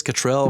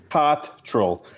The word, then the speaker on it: Cottrell: Cottrell from the Dabbler's Den to talk about Carolina Bays and all that kind of interesting stuff.